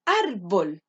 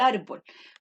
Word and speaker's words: árbol: está el árbol pero para saber dónde se carga la voz y para saber si llevan a lleva tilde yo lo puedo hacer en mi mente es decir ar bolt se cargan ar por lo tanto la